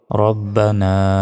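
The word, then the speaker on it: ربنا: পর কি বলতে হবে রব্বানা লাকাল হামদ আমরা অনেকে বলি রাব্বানা লাকাল হামদ এটা ভুল রব্বানা রাব্বানা নয় রব্বানা এভাবে বলবেন রব্বানা লাকাল হামদ এখানে হামদ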